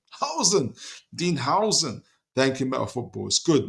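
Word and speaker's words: Huijsen: Dean hoisen excuse me Dean hoisen pronounced house with an okay see Dean Howen Howen Dean Howen thank you met footballs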